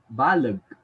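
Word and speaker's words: baleg: the letter e e s in egg is pronounced as uh in pangasinan example would be the word balog b-a-l-e-g which literally translates to huge or big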